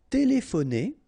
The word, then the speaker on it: téléphoner: Téléphoner. Téléphoner. Remember P and H together give you sound.